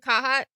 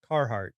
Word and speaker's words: Carhartt: There's 2 R's in that word and you Do you want pronounce me to roll my R's now? No, I just want you to pronounce either of the 2.